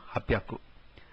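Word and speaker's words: 八百: And similarly, Hachi Hyaku, that is 800, has become Hapyaku.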